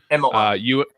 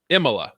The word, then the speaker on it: Imola: I'm not even going to try and pronounce it. Imola. Imola.